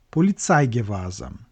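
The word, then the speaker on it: Polizeigewahrsam: Воде гебрахт поліцайвазам. Тут наголос падає на склад поліцай.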